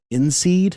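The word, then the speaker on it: INSEAD: of the business school in seed I think that's how it's pronounced i-n-s-e-a-d and Manfred FR cats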